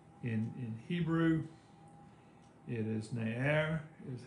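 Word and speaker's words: נער: it looks like in in hebrew it is nair is how you pronounce it i'll put the pronunciation up that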